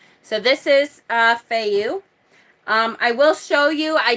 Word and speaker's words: Fehu: Fehu. A lot of Scandinavian people call it Fehu. It's like the H is silent, and it's F-E as in fed. So it's Fehu.